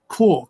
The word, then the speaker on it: Quark: copy of um uh quk I think I pronounced in it quk or Quark Quark Express not corn food um and so this